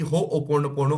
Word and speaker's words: Ho'oponopono: शब्द आहे तर तुम्हा सगळ्यांना माहिती असावं की हो ओपोन पोणो हा शब्द ओके सगळ्यांना म्हणता आलं पाहिजेत हो